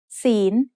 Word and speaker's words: ศีล: The final consonant is ลอลิง which makes a sound like the letter N in this position. ศีล is said with a rising tone because it has a high-class consonant with a live syllable ending.